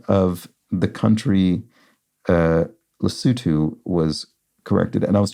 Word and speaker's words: Lesotho: something like Lesotho maybe but it's properly pronounced uh Lesotho so thank you to